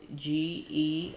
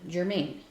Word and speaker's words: Germann: Like here in Phoenix, there's a street that is spelled Germann, but it is pronounced by everyone Germain. It's not pronounced German. It has two N's for no reason. And I don't know if it was someone's name. I should look it up. I refuse to pronounce it Germain.